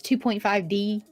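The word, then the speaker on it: 2.5D: trying to be mediocre technically pronounced as 2.5 d yeah yeah it is it's like 2.5 d or two and a half d depending on you know your you know lexicon there but it's yeah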